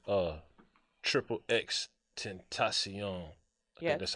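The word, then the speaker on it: XXXTentacion: value but let's say russia sold like uh triple x tentacion yeah that's how you say his name he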